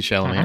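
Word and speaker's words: Chalamet: Paul a trus right Timothy shalam or Timothy Shalom is actually how you say it but everybody calls him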